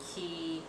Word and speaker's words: Quay: But it's it's by Quay, and I'm pretty sure people have heard of Quay glasses, but which it's pronounced Quay, but it's QUA if you see it right there.